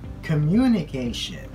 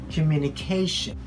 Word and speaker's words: communication: Many of us say communication. So we put the stress on the second syllable. But it's not the way we pronounce that word. So we say communication.